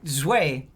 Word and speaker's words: Zwei: I mean that's Zwei. That's the Zwei? That's Zwei. German for two. Zwei? Zwei. Okay. Well, I didn't know that. Yeah. Zweihander. Zwei. The Evil Within Yeah, was Zwei.